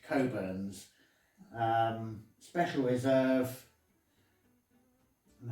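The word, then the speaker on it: Cockburn's: um for anyone unaware it reads burns but uh it's i think pronounced coburns um special reserve and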